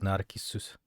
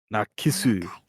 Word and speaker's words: Narcissu: Oh, that's how you pronounce it. Narcissu. Narcissu.